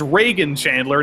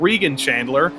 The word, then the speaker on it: Reagan Chandler: the past three seasons it's Reagan Chandler not Regan Chandler so I uh I